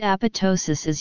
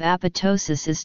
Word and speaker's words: apoptosis: clearly we propose that the stress should be on the penultimate syllable the second half of the word being pronounced like ptosis which comes from the